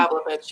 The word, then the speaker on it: Pavlovitz: Is that how you pronounce his Ron name? Pavlovich, yeah.